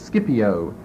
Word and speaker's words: Scipio: Or another correct pronunciation is Scipio. S-C-I-P-I-O. But the first pronunciation is the more correct, Scipio.